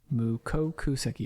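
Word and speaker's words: mukokuseki: Mukoku Seki. Yes, I pronounced that right.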